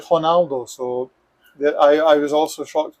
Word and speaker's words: Ronaldo: If it's an R, then you pronounce it like an H. So, for example, you may know the iconic footballer Ronaldo, the Brazilian one, the original one. His name here is actually Ronaldo.